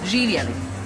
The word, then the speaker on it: Živjeli: Živjeli. Živjeli.